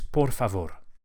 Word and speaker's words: por favor: Please, please in Spanish is por favor. Por favor. Each of the R's is lightly flipped with the very tip of the tongue. Por favor, just behind the front teeth.